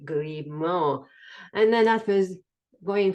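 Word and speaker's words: Grimaud: this is the ground the Mad Maximo and it's spelled g r i m a u d grimo and then I was going for 15 pounds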